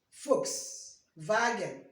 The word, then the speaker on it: Volkswagen: as in English foul usually like f remember how we pronounce Volkswagen not Volkswagen Volkswagen folks wagon foul V is pronounced